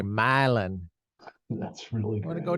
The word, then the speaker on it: Milan: have a city called it's spelled Milan like in Italy that's not how they say it they say myelin that's really we're gonna